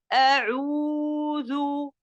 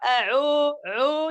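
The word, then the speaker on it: أعوذ: Comme par exemple quand je dis a'oudhu, je n'ai pas a'o, c'est faux. Donc je ne dois pas élargir mes lèvres de façon à prononcer le son O, parce que le son O n'existe pas aussi dans la langue arabe. Je dois faire attention à prononcer ou, a'ou, a'ou.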